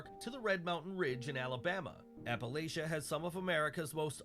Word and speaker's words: Appalachia: from any part of Appalachia I keep saying it wrong Appalachia um the worst parts